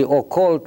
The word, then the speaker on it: occult: disreputable and sinister preoccupations see occult rhymes with cult English and so it